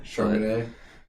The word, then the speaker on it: Charmaine: It's Charm, Charmaine.